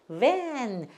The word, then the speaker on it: van: van.